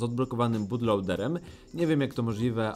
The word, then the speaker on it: bootloader: zmienić Soft musimy odblokować bu lader ale po kolei Uprzedzając komentarze Tak wiem Mówi się bootloader a nie Bud lader ale mam taki dziwny